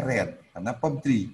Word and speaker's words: read: is the book is bacanya ini dret dret Oke ini bacanya red the book is LED